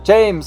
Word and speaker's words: James: most famous one is James Rodriguez, but they call him James. James, not James, James in Colombia. Different pronunciation.